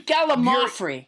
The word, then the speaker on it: gallimaufry: Yeah, it's actually Gallimaufry. That's what it is, Gallimaufry.